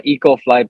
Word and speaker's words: 2cofly: co-fly, but it's pronounced EcoFly because the number two in Korean is pronounced E.